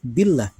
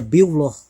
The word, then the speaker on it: billah: kemudian berharakat jair kasroh wajib dibaca tipis atau tarq Billah jadi nggak boleh dibaca biyullah kalau kemudian diizin oleh